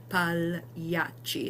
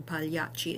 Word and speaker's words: pagliacci: So pagliacci is another good one, pagliacci. And you'll notice with the double C, there's a little more cha sound.